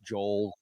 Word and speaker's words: Joel: It's Joel, like Noel, or Yeah, some people say Noel.